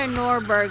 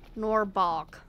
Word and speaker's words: Norbog: You're not a Norborg, are you? Deadly bog spewer. I don't want a bog spewer either. I want a Norborg. Norbog. Norbog. Maybe that's why they weren't appearing. I was mispronouncing their name.